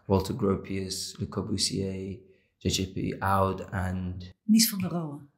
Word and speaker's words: Oud: So this is the Kiefhoek Social Housing Complex, and it was designed by JJP Oud.